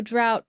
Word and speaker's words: drought: he's not strong enough sound four this rhymes with how and now the words are bow drought plow and slow try saying this rhyme